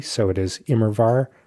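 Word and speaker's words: Immerwahr: Uh, it's the W is pronounced as a V. So, it is Imrvar. Imrvar.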